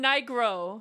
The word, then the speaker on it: Nigro: Oh, I thought you were saying it wrong. No. No, that's how it's pronounced. But okay, so yeah. That's our next goal, guys. We need to get Dan Nigro to hear me sing,